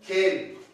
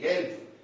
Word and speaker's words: gelb: If B come at the end of a word, for example, gelb, G-A-L-B, gelb.